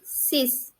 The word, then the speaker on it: six: of english and french french is same but pronunciation is different six it would be sis sis sis okay then our next number is